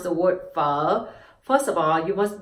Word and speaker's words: Phở: next one is o 500 and together is fo fo and you add in the mark for